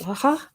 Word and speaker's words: Laja: It's called Laja, or Laja, probably, if it's in Spanish, isn't it? Laja. J is pronounced like that, Laja.